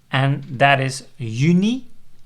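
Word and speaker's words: juni: confusion about that so people sometimes emphasize that they said uni by pronouncing it as you know and Julie by saying you lay because the Epsilon at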